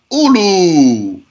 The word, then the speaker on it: أولو: Minha ulu. One of them is ulu. You already know that this wow is silent. You need to write it, but you don't pronounce it.